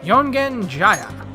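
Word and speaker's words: Yongen-Jaya: time with Ty so we gotta go to youngin Jaya which I pronounce right that time oh man in spring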